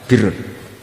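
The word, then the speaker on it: بِرّ: guru-guru kita baca barin tapi untuk masdarnya untuk kebaikan Bacanya apa Birun nanti kamu protes Oh Barun itu daratan Gus kalau Birun itu kebaikan Akuu macahu kamush su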